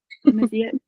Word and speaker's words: Amazigh: Amazit. Amazigh? Yeah, there's like a little throat action in it. Amazigh.